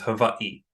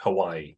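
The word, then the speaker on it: Hawaiʻi: Um, so I believe yes, the W is pronounced like a V, but it's so it probably is um olivalu, but you can say honu.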